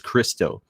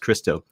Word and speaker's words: Criostoir: So even though it's got the OIR in it, there is, like I said, it's pronounced Christo.